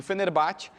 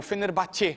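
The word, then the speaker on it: Fenerbahçe: capitão do time do fenerbate que é o Fenerbahce seria a pronúncia mais correta o time turco é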